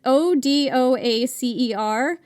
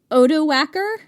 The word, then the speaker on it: Odoacer: So, the name is O-D-O-A-C-E-R, and I've seen it pronounced Odoacer.